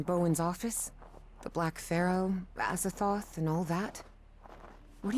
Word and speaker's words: Azathoth: You know, one time they spelled it Azathoth, and the other time they spelled it Azathoth. But both times they've pronounced it Azathoth.